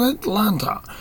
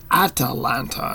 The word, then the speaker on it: Atalanta: Huntress woman from taga atanta not Atlanta which is named after something different but Atalanta and I'll spell it